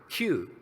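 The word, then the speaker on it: 九: In Japanese, the character for the number 9 is pronounced Q.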